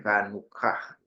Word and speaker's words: Hanukkah: Jadi nulis yang betul adalah Hanukkah. Walaupun dibacanya K tapi dia CH ya, Hanukkah.